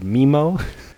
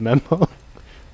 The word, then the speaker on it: memo: in this film who who uh pronounced the word mimo take a mimo instead of memo multiple times he incorrectly